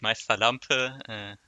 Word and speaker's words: Meisterlampe: I say it Meisterlampe.